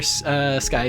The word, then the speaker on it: Skie: Wait, it's sky and not sky? Yeah, it's pronounced sky, like the sky.